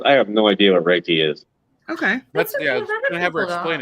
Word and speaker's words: Reiki: and he he's a Reiki master too if you can't say it Ricky Ricky it's called Reiki I don't want to